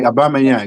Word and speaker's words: Aubameyang: Did Did I say his name correct? Obama. Right. Obama. Yeah. Obama Yang. Right.